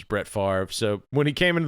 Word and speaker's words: Brett Favre: Yeah, and he was Ben Stiller's idea for this was the Brett, to mispronounce it, because anyone that knows football knows it's Brett Favre.